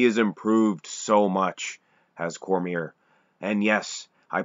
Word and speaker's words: Cormier: anyway in the entrance he didn't called him Cormier so I think this get they would know